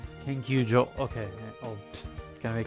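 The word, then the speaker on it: 研究所: Is it Kenkyusho or Kenkyujo? Kanji can be confusing like that. Kenkyujo.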